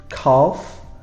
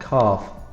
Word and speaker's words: calf: The difficult words may be calf, because this F sound is more of a V sound, calf. And we have an L that we don't really say.